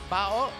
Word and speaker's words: Bao: It's the main 5 plus player that they call Bao. I believe is the pronunciation. That's the proper pronunciation.